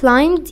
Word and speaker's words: climbed: he climbed يعني هو تسلق، وخلوا بالكو ان ال b هنا silent يعني ما بتتنطقش.